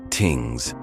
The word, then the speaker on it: things: Their community gatherings called things, pronounced tings, were democratic assemblies where disputes were settled and laws created through consensus.